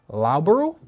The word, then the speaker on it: Loughborough: Yeah, So- somebody already commented So it's Loughborough.